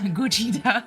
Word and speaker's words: Gojira: David something about no Gojira Gojira like Godzilla but pronounce it like a Japanese way that's Dragon Ball [